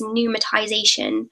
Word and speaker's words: pneumatization: So, my favorite word is pneumatization, which is spelled with a P.